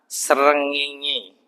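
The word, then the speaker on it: srengenge: tafsirnya susah itu jadi bacanya Sin ro ngain Sin ro ngain ya itu artinya apa Pak bacanya susah Tapi bacanya ternyata senginge saya akhirnya bisa baca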